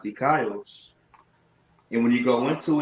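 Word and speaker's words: δίκαιος: It be pronounced dikaios.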